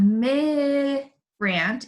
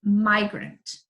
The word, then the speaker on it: migrant: eye says its name so it's not me grant it's migrant my great sometimes we